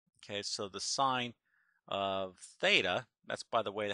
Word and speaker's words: theta: labeled as R okay so the sign of theta that's by the way how we pronounce that little variable is the opposite which